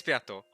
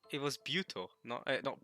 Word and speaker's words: Beato: It is Beato. I thought it was Buto.